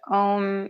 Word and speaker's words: Om: A lot of people will write it out as OM, but it actually technically should be AUM. So you pronounce it like So just think about that as you are chanting.